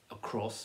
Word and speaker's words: across: sport or something so a cross is stressed on that second syllable across and then again the